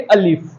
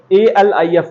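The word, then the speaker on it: الف: जैसे ये क्या है अलिफ, तो इसको प्रोनाउंस कैसे करेंगे अलिफ। मैंने इसीलिए इंग्लिश में भी लिख के रखा हुआ कि बच्चों को मुश्किल ना हो साउंड की। अलिफ ALIF अलिफ। ये क्या है बे BAY बे।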